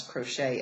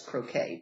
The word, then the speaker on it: crochet: So he continues to pronounce crochet as croquet, but which was adorably cute.